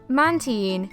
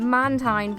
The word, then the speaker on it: Mantine: I have been mispronouncing up until this day mantin this is the official pronunciation for it but I have been calling it Mantine for the longest time another Pokémon that I